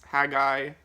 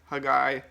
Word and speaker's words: Haggai: the book of haggai if i'm pronouncing that right too i think it's haggai hagai so i actually read